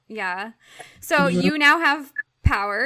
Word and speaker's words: PWR: so you now have power is that how you say it Power pwr okay so power um and it's spelled pwr and that stands for